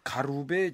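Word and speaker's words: 軽部: 그 영문도 모르고 받았는데 그 봉투 표지에 붓으로 백제 왕릉 공주 송산리 제6호분 사진이라고 적혀 있고 한자로 경부자은이라고 쓰여 있었어요. 그러니까 일본 발음으로 가루베 지온이죠.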